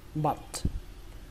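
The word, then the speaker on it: butt: Ở đây chúng ta ghi là âm u nhưng mà cách đọc của chúng ta là âm á. Các bạn nhớ là âm á nhé. Và kết thúc bằng âm t bắn hơi.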